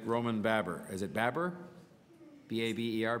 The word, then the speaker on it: Baber: May I have help with the pronunciation of your name so I don't mispronounce it again? It's from Baber. Fine, I had it right the first time.